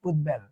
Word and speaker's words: উদ্বেল: তাহলে কি এই যে দয়ের সঙ্গে বা উদের সঙ্গে বটা ছিল না, তাই তার উচ্চারণ বজায় থাকবে উদ্বেল।